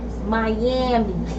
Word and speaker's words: Myammee: The way you spell her name is MYAMMEE. And how you say it? Miami.